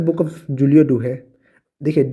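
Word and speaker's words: Douhet: Name the book of Julio डूहे देखिए डी ओ यू एच ई टी डूहेट बोलते हैं लेकिन एक्चुअली प्रोनाउंसिएशन डू है होता है।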